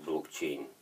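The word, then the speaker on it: blockchain: развиваясь посредством цепочек обобщения блокчайн произносимых как блокчейн блокчейн это вот буквально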